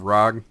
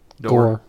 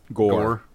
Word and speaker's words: Gor: Rog? Gore. Gore. Yeah, G-O-R. Yeah. Yeah, it's pronounced Gore with an E, but spelled minus the E for whatever reasons.